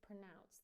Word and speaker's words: pronounce: A schwa in the first syllable. Pronounce, pronounce, and it rhymes with the second syllable with the word rhymes with announce, right? Announce, announce, pronounce.